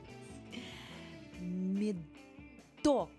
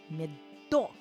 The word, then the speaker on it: медок: Медок, мед. Ударение на о. Медок.